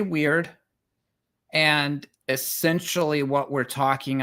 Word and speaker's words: Wyrd: I have heard this word pronounce both word and weird. What does it actually mean? So I say weird, and essentially what we're talking about is the equivalent of the Greek fate.